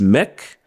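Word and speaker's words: mek: Patois which is Tech make which we pronounce Mech and mean make or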